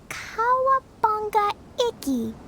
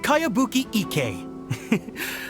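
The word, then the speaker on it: Kayabuki Ikuya: By Kawabunga Iki. Yoimiya, this is a really strange name. Who's this Kawabunga? It's pronounced Kayabuki Ike.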